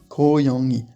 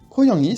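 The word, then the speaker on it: 고양이: Petit truc à dire sur ce mot-là, on est bien yang suivi de i directement. On les prononce comme s'ils étaient séparés, mais l'un à la suite. Yangi, yangi.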